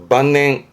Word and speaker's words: 晩年: 저문 저녁 때를 말했던 늦을만 저물만, 대표적으로는 만년, 발음은 만냉.